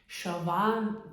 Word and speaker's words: Siobhan: I googled how to pronounce her name because I think it's Irish. It's Siobhan Davis.